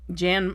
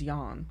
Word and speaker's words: Jan: and um Jan I think that's how you say his name Jan the uh actor I don't think it's yawn but Jan Michael Vincent